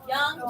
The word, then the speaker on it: Jung: His name doesn't look like it would be pronounced that way. Freud. No. Is it J? It does start with a J. Jang. Young. Young. Yep. Oh my gosh, I can't spell it. Jung. Yep. Jung. Young is how it's pronounced.